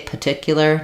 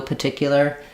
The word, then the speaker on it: particular: cheat a little bit if I say particular no particular that first R is a little bit optional P particular you're just going to have more of an uh sound there it's pretty rare in American English for us to leave out any RS but in a word like this you will often hear people um it's just difficult to put that first R in there so they often